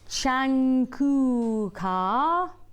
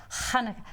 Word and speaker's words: Hanukkah: how I say that, Chankuka. That's wrong. Yeah. Fair I'm doing tomorrow. I might have said that. Hanukkah fair. Pronounced like a guttural H at the back of the road. Hanukkah.